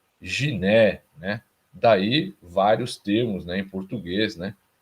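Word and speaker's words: γυνή: Que no grego é guné, né? Guné. E se você prestar atenção na pronúncia, vai ver que na verdade ela é giné, né?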